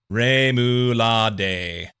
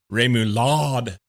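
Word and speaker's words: rémoulade: Ramulad, you were real close like him. It's Remulad as in Lord Jesus.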